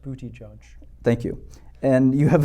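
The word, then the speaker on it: Buttigieg: have a Zuckerberg and you have a Pete booty gag or whatever his name is and you've got you know a couple pronounced booty judge thank you and you have a few people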